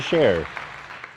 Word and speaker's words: Scherer: He's a Scherer.